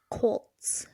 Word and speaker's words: Colts: I say Colt. Like cold. Say cold. Cold. Now do that as tss at the end instead. Colts. That's how you say it.